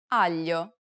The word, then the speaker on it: aglio: Listen to Desiree and pay attention to the way it's pronounced in the following words. maglia, meglio, aglio.